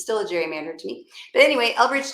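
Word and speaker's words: gerrymander: his name Gary so it's a Gary Mander not a Jerry Mander but whatever oh um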